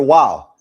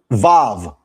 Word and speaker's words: vav: That right there is the letter wow. That's biblical Hebrew. However, modern Hebrew, this letter is pronounced vav. This letter is vav. Vav. That's modern Hebrew. Vav is modern Hebrew. However, wow is biblical Masoretic Hebrew.